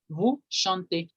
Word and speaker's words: vous chantez: Con vous, la E siempre suena. Ustedes cantan o usted canta, se dice, se pronuncia vous chantez.